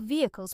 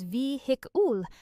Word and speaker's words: vehicle: Some learners pronounce this as vehicle, making the middle sound too strong. In British English, the most natural pronunciation is vehicle, with the middle syllable very quick and light.